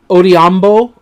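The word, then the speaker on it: Odhiambo: run block with Reese Odiambo, because sometimes H is silent in some languages and all of that. Odiambo, and I do not believe I pronounced the name Marcus Henry.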